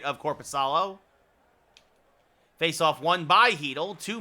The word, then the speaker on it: Korpisalo: It's Korpisalo.